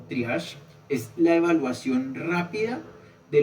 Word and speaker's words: triage: Entonces, el triash se escribe así como está acá, trije. Eh, lo podemos leer como triash.